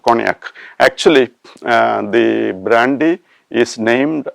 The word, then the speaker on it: cognac: And now the next word is cognac. The spelling is COGNAC. COGNAC. The tricky area is GNA, which we pronounce as nya.